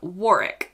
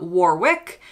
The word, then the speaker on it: Warwick: And outside of London, you've got places like Warwick, not Warwick.